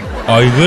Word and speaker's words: Igor: Aygır mı dedin? Vallahi öyle dedim. Ay ilkelsiniz. Hemen konuyu böyle başka yere çekeyim. Ay bir kere Igor yazılır aygır okunur. Tudor yazılır tor okunur.